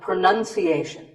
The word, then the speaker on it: pronunciation: Well, we say pronounce, pronounced, and pronouncing, but pronunciation. There's no noun in this word. It's pronunciation.